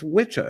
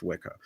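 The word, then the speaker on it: Wicca: And the reason I say that is because witchah, it's witchah. It's not wikah. It's not even pronounced wickah.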